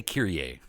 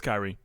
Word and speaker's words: Kyrie: I kept wanting to say Kyrie. It's Kyrie. It's not like the Mr. Mr. song? No, it's not. It's not Kyrie?